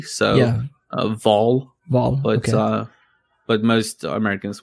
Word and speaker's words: Wahl: Yeah, well, in Swedish you actually pronounce it as a V, so yeah. Vol, but okay. But most Americans would say Wahl.